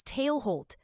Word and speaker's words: Tailholt: That's Tailholt, pronounced just like it looks.